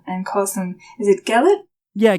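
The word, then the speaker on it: Gelet: that term and and calls him is it gellet yeah gallet that's how I pronounce it yeah you're right Elizabeth there is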